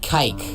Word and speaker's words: kike: that starts with d it rhymes with bike kike okay okay okay okay